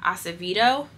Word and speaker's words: Acevedo: And then the next book I have is Clap When You Land by Elizabeth Acevedo.